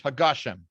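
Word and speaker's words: הַגָּשֶׁם: pronunciation is uh is hagashem why because he said it's the end of the sentence so you put a period and then you you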